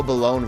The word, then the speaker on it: Balone: Well, at least we know Balone rhymes with alone, so I think I'm pronouncing it right.